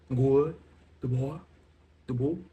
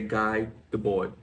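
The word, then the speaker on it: Guy Debord: Now he's French so it's I'm going to pronounce it in a the best French the faux French way I can. Good boy the boy.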